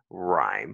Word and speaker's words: rhyme: Et puisqu'il y a un E muet ici, donc tu dis rhyme parce que tu vas utiliser le son long.